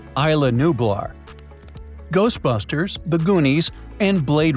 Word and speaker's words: Isla Nublar: Did I get those pronunciations right? Yeah. Only true fans know that the answer is A. Isla Nublar.